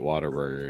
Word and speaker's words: Whataburger: awesome burgers and see ever texan will say it like that there's even memes yeah ever attack symbol they're gonna say it whataburger it's it's it's how it's pronounced in texas yeah i've tried it